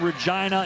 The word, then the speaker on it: Regina: Kevin Blythe coming from Regina. It rhymes with fun up in Saskatchewan.